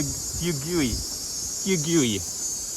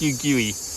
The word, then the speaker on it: Fugui: there our first view of the cape for fugue yugi i googled it and it tells me it's pronounced you gui cape fugue lighthouse so there's the cape for